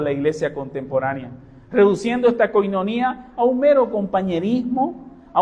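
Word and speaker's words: κοινωνία: Nuevo Testamento, que ustedes la conocen, que se pronuncia en griego la coinonía, ¿no?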